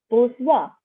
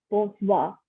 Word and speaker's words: bonsoir: So we just combine them to say good evening as bonsoir. Again, I'm not pronouncing the R at the end.